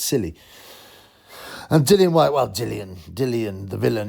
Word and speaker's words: Dillian: always I've always wondered some people call him Dylan white but but it's spelled dillian white but his original nickname was the villain so you think Dylan the villain villain white that rhymes dillian the villain white doesn't rhyme but now he calls